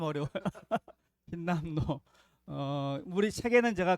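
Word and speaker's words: 힌남노: 흰림노, 발음도 어려운 흰림노, 흰남노인가요? 흰남노. 발음이 좀 어려워요. 흰남노.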